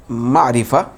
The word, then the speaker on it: معرفہ: قسم کا نام معرفہ ہے۔ تو اس کا تلفظ دوستو یاد رکھنا ہے ہم کو، یہ جو اصطلاحی لفظ ہے معرفہ ہے، معرفہ۔ دوسرا اسم کی جو دوسری قسم ہے وہ